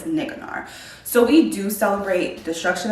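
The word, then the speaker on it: Nicanor: always say it wrong I always say nikonara but I'm pretty sure it's niggnore so we do celebrate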